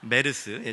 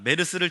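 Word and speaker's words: MERS: 메르스, 우리 담임 목사님은 멀스 이렇게 발음을 하시던데, 메르스. 제가 미국에서 산 적이 없어서 저는 콩글리시로 메르스. 메르스 때문에 많은 분들이 근심하시고,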